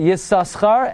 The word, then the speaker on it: Yissaschar: What was very surprising to me is Rav Moshe writes, the minhag is, like the Chasam Sofer, to pronounce it the first time. The first time you say Yissaschar, and after that you drop it.